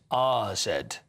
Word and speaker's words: AZ: It's not AZ Alkmaar, it's RZ Alkmaar.